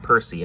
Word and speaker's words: Percy: And then the grade 1, this is Galactic B-Hero Architect Percy, or Parseal. It's pronounced Percy, I believe.